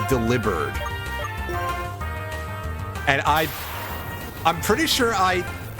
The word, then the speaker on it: Delibird: Yeah, and he told me that our friendly neighborhood penguin joke Pokemon, the name is not pronounced Delibird, it's pronounced Delibird.